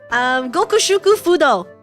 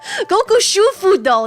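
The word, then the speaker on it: Gokushufudō: Gokushuku Fudo. Did I say one too many syllables? Gokushu Fudo. There we go.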